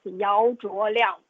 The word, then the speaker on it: Yao Liang: So my Chinese name is Yao Liang. That's how I say my name in Mandarin. Mm. And we say our last name actually first.